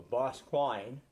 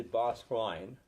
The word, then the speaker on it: Boscawen: laugh we like here Boscawen is how I pronounced it all boss Cowen a boss Quine yeah the old-timers always say boss flying how they got the client out of it I'll never know but anyway well you